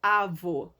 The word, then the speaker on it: avô: Quando eu junto A, V e O, fica avô. Eu li sem acento. Sem acento, essa palavra lê-se avô. Temos aqui o avo, tá?